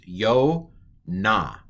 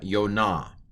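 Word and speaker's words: יונה: It's a holum vav, a long O. So yo. And then what's this one again? It's kamatz. Kamatz hey. Again, the hey is a piggyback for the kamatz. So this is yo na.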